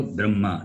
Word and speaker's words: Brahma: This particular combination, in this particular combination, Makara is read first and then Hakara is read. Okay. So therefore, it should be B-R-A-M-H-A. But in the tradition, when Vedic pandits, when they read, when they chant, what they do is, even the H, B-R-A-M-H-A, the H also will become M, B-R-A-M-M-A. That is how they read, they chant.